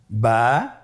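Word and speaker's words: با: আমাদের স্ক্রিনে চলে এসেছে বা বা হরফটি কিভাবে উচ্চারণ করবেন? বা হরফে টান হবে। এক আলিফ টান।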